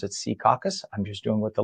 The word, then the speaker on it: Secaucus: For those of you in other parts of the state, it's not pronounced Secaucus. The locals pronounce it Secaucus.